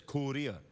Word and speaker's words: Korea: You say it like this, Korea.